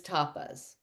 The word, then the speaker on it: tapas: for purification which is tapas. Tapas. It t a pa is how it's spelled. It's, you know, like the little Spanish appetizers, but it's um that directly translates to the word heat.